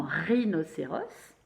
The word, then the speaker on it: rhinocéros: Mais la vraie écriture de la syllabe ri dans rhinocéros, c'est celle-là. Il y a le H qui s'invite au milieu, un H muet.